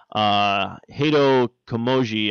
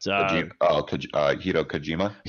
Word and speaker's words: Hideo Kojima: Norman Reedus, and also of course the guy who pretty much put Konami on the map, Hideo Komoji, I believe. If I'm pronouncing his name right, but Hideo Kojima.